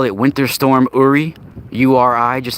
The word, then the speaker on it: Uri: uh it's spelled u-r-i uri it's actually uri it's not yuri it's uri it's it that's how it's pronounced it's a uri yuri